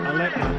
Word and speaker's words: Alekna: Vagilius Alekna, double Olympic champion with discus. Yes, he is, and he's one of the favourites again this year. He's in very good form. How was his pronunciation? Alekna, very good.